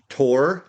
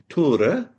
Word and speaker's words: Tore: So I am here today with Tore. He said I can call him Tor, but it is pronounced Tore.